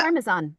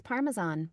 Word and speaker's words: Parmesan: It's Parmesan. It's Parmesan. What? Yeah. Oh. I mean, if you're going to use the Italian, it would be like Parmigiano. Parmigiano. But it's Parmesan. It's not Parmesan.